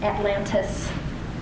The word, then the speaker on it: Atlantic: It's not Atlantic because they spelled it with a C because that's the way that it's spelled, but they never pronounce it with a C. It was always an S.